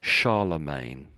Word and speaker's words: Charlemagne: ago and so we say the name as Charlemagne.